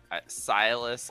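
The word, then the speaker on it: Sylas: Dude, why didn't you just say Silas if you were gonna say Silas, like stylus, like a DS stylus?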